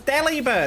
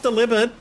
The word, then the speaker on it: Delibird: So it's Delibird, it's not delivered. Anyone who says delivered is banned. It's fucking delivered. Ugh. No. Even if you say, even then, like, bird is pronounced bird, so that's Delibird.